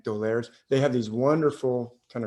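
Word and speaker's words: d'Aulaire: say their name the doleres you know angry and edgar perein doler d with an apostrophe like a french name a-u-l-e-i-r-e i think dolers they have these wonderful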